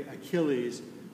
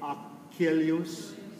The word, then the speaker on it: Achilles: Would you say, we say typically Achilles, would you say the way he spelled it would be Achilles? I think you can also use some standard pronunciations. I think everyone recognizes Right. Achilles.